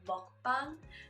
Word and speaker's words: mukbang: I've also been exploring, they call it mukbang, which basically means like food channel, food show, food video kind of thing, or not food, what is it, like muk is like the first syllable, like eating, so like eating show, eating channel.